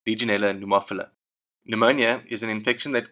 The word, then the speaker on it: pneumophila: can cause pneumonia by the way pneumophila is pronounced pneumophila the very first outbreak was recorded in Spain